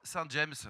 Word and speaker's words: Saint-James: à 40 % l'explo parce que pour l'export Saint-James, ça sonne mieux que Saint-Je non ? Oui. Bon, tu prononces nous on est très à cheval de prononcer Saint-Jamb.